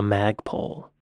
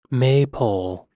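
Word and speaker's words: maypole: pole though like what's the purpose of a MAG pole they must have used it for something back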